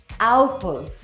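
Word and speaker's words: Opel: Oh-paal? Oh-pell? It's actually Ow-puhl.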